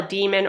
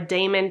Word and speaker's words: daemon: Each person has what they call a demon or a daemon. People pronounce it differently.